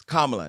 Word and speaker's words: Kamala: Either way, Donald Trump is blaming Kamala Harris. Kamala, not Kamala. Because all y'all people out there keep saying her name wrong.